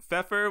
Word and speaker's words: Pfefer: when men were men you can't even say the p word the weird pronunciation that should not be just glazed over in the middle of this episode okay feffer was a promoter of